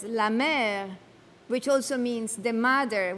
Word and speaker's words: la mer: The sea, la mer in French, which is pronounced in French as la mer, which also means the